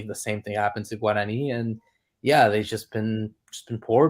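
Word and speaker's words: Guaraní: Guarani, by the way, is how it's pronounced, but I appreciate the effort.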